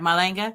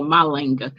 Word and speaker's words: Malinga: I meant to ask you, did I pronounce your last name right? It sounded like you said it right, Malinga. Yes. Okay. I said Malinga, so Malinga.